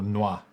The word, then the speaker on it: noix: Or noix. Or noix. Don't pronounce the X.